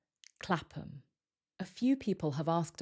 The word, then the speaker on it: Clapham: The ham becomes weaker and sounds like because it's not stressed. So this sounds like Clapham. Clapham.